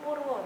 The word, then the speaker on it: Empu Purwa: di dalam Museum Empu Purwo. Betul Bapak? Betul ya. Nah biasanya kan mungkin masih banyak yang belum bisa membacanya dengan benar. Biasanya membacanya Empu Purwa.